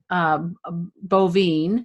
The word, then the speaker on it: Boivin: great so so people can go to Donnie bovine you got um is your website yeah I pronounced it right and also success champion six